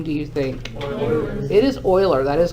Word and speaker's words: Euler: say his name do you think it is oiler that is correct most people pronounce it wrong it looks like Euler but